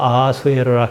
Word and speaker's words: 크세르크세스: 크세르크세스는 영어식 발음입니다. 원래 페르시아 말로는 크샤야르샤입니다. 히브리 말로 넘어가면서 아우슈베롯입니다. 우리말로 순화해서 아하수에로라 그럽니다.